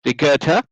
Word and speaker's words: Rigerta: very good friends of mine uh claire and regerta did i pronounce your name correctly yes you did yes